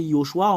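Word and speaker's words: יְהוֹשֻׁעַ: Selon les Juifs, le fait de le prononcer, c'est Yehoshua. On ne discute pas, on ne fait pas une longue discussion à part cela.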